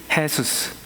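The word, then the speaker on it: Jesús: 이게 무슨 말인지 몰랐는데 새로 사귄 친구의 이름이 헤수스, 남미에서 온 친구였는데 J-E-S-U-S, 그래서 J가 해 발음이 나서 헤수스 이름을 갖고 있는 겁니다.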